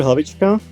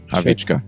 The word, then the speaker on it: Hlavicka: Yeah, I'm Hlavicka. It's a Hlavicka.